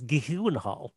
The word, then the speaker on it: Gyllenhaal: Like, how is your last name pronounced? It's Gyllenhaal.